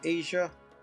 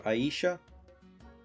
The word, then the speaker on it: Aisha: Next is Asia. Or Aisha. I think is how you say it. I like saying Aisha better. That's what it looks like to me.